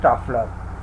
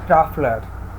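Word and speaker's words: Trafalgar: Eight ट्रैफलर, please read it, ट्रैफलर, इसमें जी is silent, so it will be एज ट्रैफलर।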